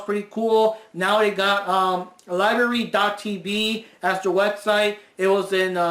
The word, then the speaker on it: LBRY: We discovered a service called Library, which is LBRY, but still pronounced library.